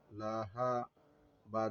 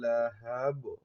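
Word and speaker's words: لهب: এখন বলতে হবে হ্যাব, হাবা জবর হ্যাব হ্যাব হ্যাব হ্যাব, একটু ধাক্কা হবে। হ্যাব হ্যাব, হাবা জবর হাব। নারং যাতা লাহাব সায়াসলা নারং যাতা লাহাব।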